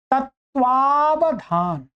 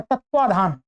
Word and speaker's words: तत्वावधान: अब आप इसको ऐसे ही पहले क्या है, लोग कुछ गलत भी बोलते हैं, तत्वाधान। इसमें ये व को हटा ही दिया उच्चारण में से। अनेक लोग ऐसा बोलते हैं, तत्वाधान। उसको वकार को उन्होंने मिस कर दिया, पूरा हटा दिया, अशुद्ध बना दिया।